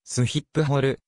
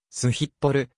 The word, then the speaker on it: Schiphol: 3 位であるスキポールは英語読みに基づくカタカナ表記でオランダ語での発音はすヒップホルまたはすヒッポる sx pl に近いスキポール空港